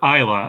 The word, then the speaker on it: Isla: was Elsa or or Isa and I I Googled her this morning and it it is ISA Fisher I okay so the S is silent oh boy all right